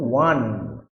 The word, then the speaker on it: won: তাহলে জিতেছিল ইংরেজিতে কি, WON, বানানটা WON, কিন্তু উচ্চারণটা বলেছিলাম কি ওন, না ওন নয়, মনে রাখবে এটার উচ্চারণ কিন্তু ওয়ান, ONE, এর মতো উচ্চারণটা, কিন্তু বানানটা হবে WON।